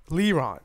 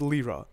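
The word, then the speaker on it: Lara: elder and three tamer levron leron lira lira lira there we go i was saying it wrong for the longest time but it's lira lira allows you to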